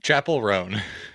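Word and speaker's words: Chappell Roan: And I sent them a song called Good Luck Babe by Chappelle Rowan. I think is how you say the name. Chapel Roan.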